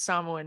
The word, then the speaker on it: Samoan: And he would tell me, you need to be proud, like same thing, you should be proud of being, and it's Samoan, not Samoan.